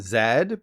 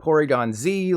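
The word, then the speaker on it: Porygon-Z: have called this Porygon Zed because you say the letter Z as Zed but officially this guy is called Porygon Z like Dragon Ball Z damn Americans you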